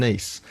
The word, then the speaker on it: Denis: it's called Denise. And they changed it to Denis, the French pronunciation of Dennis, the male I thought name.